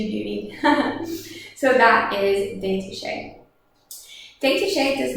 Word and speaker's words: détaché: So the first bow stroke that we have is détaché. Détaché is by far the most common bow stroke used on the violin. So détaché kind of sounds like the word detached, right?